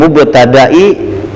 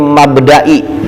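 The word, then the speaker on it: مبدإ: Mim mubtadai tastihil jabhah. Kalau enggak ada ta bacanya mim mabdai jangan mubtadai.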